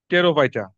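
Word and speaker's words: Pterophyta: তারপর লাইকোফাইটা, ক্যালামোফাইটা, টেরোফাইটা, পি উচ্চারণ হয় না।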